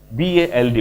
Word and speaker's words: bald: black hair but he is going bald fast BALD उच्चारण टाको भले कि सुनियो पिला माने bald ए